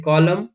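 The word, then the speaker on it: column: पर साइलेंट होता है कि एन एम के बाद आता है, यानी कि एम के बाद अगर से एन आएगा तब भी हम इस एन का प्रोनाउंस नहीं करेंगे, जैसे कॉलम, डैम, हाइम, ऑटम।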